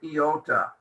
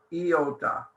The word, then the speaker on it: iota: But we don't pronounce it I, and we don't put a dot on top. It's I, the I sound. Sometimes it will sound more like E, depending on the word.